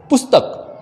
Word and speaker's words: पुस्तक: पुढं पुस्तक, पुस्तक, पुस्तक, पुस्तक। देखिए पुस्तक किताब, तो इसका सही उच्चारण है पुस्तक, पुस्तक। प में छोटी ऊ की मात्रा, आधा स, पूरा त और पूरा क, तो पुस्तक, ये गलत हो गया, ये नहीं होगा।